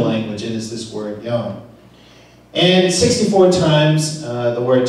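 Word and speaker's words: יוֹם: And this particular word, time, comes from a Hebrew word in the Bible, and it's pronounced as yom.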